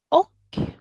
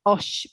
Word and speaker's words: och: Easy one, but also good to know because the pronunciation, I mean, if you read this, maybe it sounds like osh, but no, it's och.